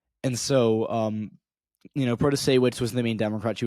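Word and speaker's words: Protasiewicz: But most importantly, we saw one Democrat, Janet Protasewicz, I believe that's how you pronounce her last name. I very possibly butchered that, but I believe it's pronounced Protasewicz.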